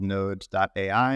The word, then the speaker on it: Knode: So currently I'm the co-founder and CEO of a company called Knode.ai, and it's spelled Knode.ai, like kind of like knowledge, but no, I don't know.